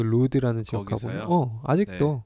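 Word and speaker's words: Lourdes: 루드. 그게 L O U R D E S거든. L O U R D E S. 루드라고 읽어.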